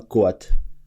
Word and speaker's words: KOA: Alors la famille, parlons donc de, du nouveau son de Booba, Koat. Koat, moi je l'appelle Koat, mais ça s'écrit K-O-A.